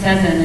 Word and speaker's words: Sezen: My name is Sezen. It's spelled like 7 with a Z in the middle.